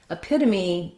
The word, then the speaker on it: epitome: Epitome is an exception to that rule. We actually pronounce that E and we say it as the tense E sound.